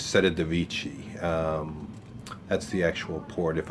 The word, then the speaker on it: Civitavecchia: When you get off the ship in Rome, or actually you're getting off in, if I'm pronouncing it right, it's Civitavecchia.